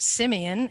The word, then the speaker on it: Simion: the name so and I pronounced it Simeon and so that's how I continue to pronounce it I know the there's